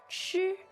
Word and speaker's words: 吃: now the verb to eat is 吃，吃. first tone, right?